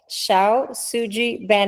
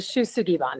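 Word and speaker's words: Shou Sugi Ban: Shao Suji Ban House? It's close. It's called the Shu Sugi Ban House.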